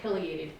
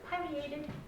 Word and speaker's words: pileated: and i was saying pileated and this lady in the back got pileated oh so i looked it up and you can say it's pronounced either way you know pecan pecan